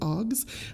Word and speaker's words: AAHGS: and Genealogical Societies Conference, AAHGS, as we sometimes pronounce it, OGS.